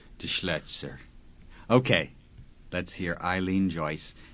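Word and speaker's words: Paul de Schlözer: Paul de Schleitzer. Yes, you pronounce it well. That's why I asked you. I just say de Schleitzer.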